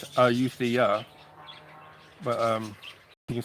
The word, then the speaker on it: Ayutthaya: The Thai people, the older Thai people say Utia. It sounds like a D in it. Utia, they say. But you know, today it's Euthia.